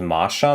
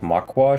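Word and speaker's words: Machyua: pronounced Masha, not Makwa.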